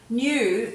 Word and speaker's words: knew: Now if you take off the silent K there, you've got another word that sounds the same but it means something different.